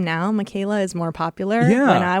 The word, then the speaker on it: Michaela: Like Michael with an A, I say. Has that always been a trouble at the doctor's office? Problem. Yep. Always a problem everywhere. And that name now Michaela is more popular.